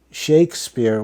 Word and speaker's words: Shakespeare: was called sha Spur now in this time Shakespeare was pronounced shakespear so something to keep